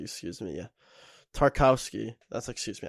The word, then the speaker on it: Tarkowski: that backline tara scout tar i think it's tarvazzowski excuse me yeah tarkowski that's excuse me how you pronounce it tarkowski has been all right he's